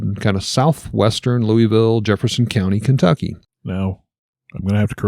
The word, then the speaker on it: Louisville: They say Vull. Louisville. You are correct.